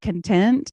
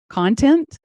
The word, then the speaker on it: content: really I thought about the word content and content yeah and how it spelled the same and you just emphasize it differently when you're talking about the two different things and how this content